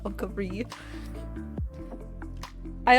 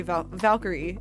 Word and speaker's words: Valkyrie: my name because the there's a difference between British pronunciation of the word Valkyrie and uh uh the American one so I say Valkyrie and I think the British way of saying is valki which makes sense cuz